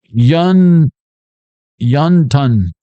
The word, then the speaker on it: wonton: Wonton. That's what, 33,000 pounds, 3,300 pounds? I forget. What's a metric ton? Learn Chinese. Wonton. Yun ton. I swear to God. The pronunciation of wonton is yun ton.